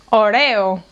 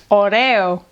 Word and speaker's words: Oreo: These cookies are “ÓREO”. “ÓREO”.